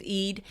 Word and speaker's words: Eid: I mean, it was Ramadan, but uh it was the id.